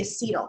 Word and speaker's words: acetyl: organic chemistry i mean technically with english rules it should be acetyl because acetyl is weird because you have accent on the y which is why right at the end of the word but i mean that i i also have heard it both ways okay um but you